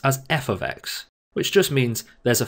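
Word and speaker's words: f(x): left hand side f brackets x we usually pronounce as f x which just means there's a function of x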